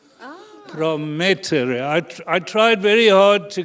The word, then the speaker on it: Promettere: And the pronunciation, if you were Italian, would be PROMETTERE. PROMETTERE.